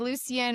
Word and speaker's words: Lucien: I think either either works. I think Lucien or Lucian. That's how I would pronounce it either way.